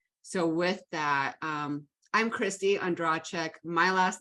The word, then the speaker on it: Ondracek: So with that, I'm Kristie Ondracek. My last name is pronounced in a million different ways. I was taught Ondracek, so that's how I say it.